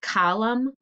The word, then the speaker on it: column: we say m n column and we hear the m and the n is silent and same with this